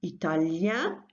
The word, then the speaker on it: italien: So when that is the case, in French it's "ien", so Italian, Italien in the masculine. and italienne in the feminine, yin and yen.